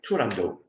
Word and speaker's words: Turandot: about 63 he started Toronto um never pronounce the final T himself the tragic events of